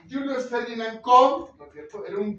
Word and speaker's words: Koch: No se dice Koch, se dice Koch, ¿no es cierto?